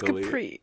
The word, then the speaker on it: Capri: either it's it's either sorry or Capri it's Capri Capri Italy and I mean in Italy and